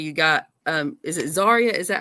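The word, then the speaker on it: Zaria: Ste Stephanie vaker you got um is it zarya is that how you say her name zarya yeah zarya yeah got those ladies that's come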